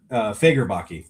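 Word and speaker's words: Bill Faggerbakke: Bill is uh Yeah, Fagerbachi is how you pronounce it. Okay, Bill Fagerbachi.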